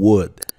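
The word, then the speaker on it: would: iniciemos con world what fíjense que lo pronunció como un what the world y esto es porque está el que vemos aquí es muda no se pronuncia así que de entrada ya sabe que está el no puede ser pronunciada but what world como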